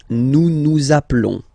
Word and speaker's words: nous nous appelons: Nous nous appelons. Nous nous appelons. Okay, final S doesn't exist.